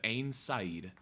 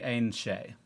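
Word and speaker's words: Aen Seidhe: First, the earth will flow with the blood of Ain Said. That's the Ain Shay. The Ain. That's how it's Ain that's how it's spelled.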